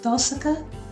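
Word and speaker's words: Tohsaka: is raka a second I think we agreed to pronounce it tosa hello sorry I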